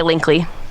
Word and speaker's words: Linkle: aren't they oh yes I refuse to pronounce it linkle it's much cuter if you say link lee yes you changed instead